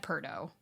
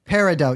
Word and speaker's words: Peridot: She said Perdo. I know what she said. The gem. I'm telling the you what I gemstone. heard. That's Yeah. how you pronounce it, right? Yes. Okay. Well, Peridot, yes. Peridot.